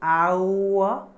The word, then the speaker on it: hour: how we pronounce it our just like oh you are our it is not our that's why an article is used because it is completely silent it is our that's